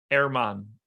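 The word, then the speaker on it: Germán: How do you pronounce Marquez's first name, by the way? Erman.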